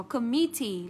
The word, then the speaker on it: committee: Và chỉ có committee là nhấn trọng âm bấm tiết số 2. Và cái này nó thuộc về ngoại lệ.